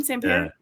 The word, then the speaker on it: Sampere: I think you say his name, Sampere.